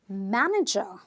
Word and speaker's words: manager: the syllable stress here three syllables Matt no Joe three syllable word but I'm going to stress syllable number one because apparently this word ends with an ER so I know a